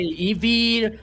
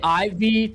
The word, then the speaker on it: Yves: Oh, well, I wanted to ask you, is it Ivy or Yves? I've been saying it wrong the whole time. It depends on the place, you know. Here okay, here in Brazil we say Evie, some people say Ivy, you know, so that's okay.